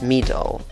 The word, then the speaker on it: middle: La primera sílaba tiene el sonido de una I corta, no es una I larga. es una I corta, E. Y la segunda sílaba tiene una schwa chiquitita que casi ni se nota. Sonará algo así. Por eso pronuncias esta palabra middle, middle.